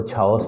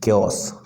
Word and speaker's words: chaos: मन कर रहा है इसको छाओस पढ़ें, बट नहीं, हम पढ़ेंगे क्योस।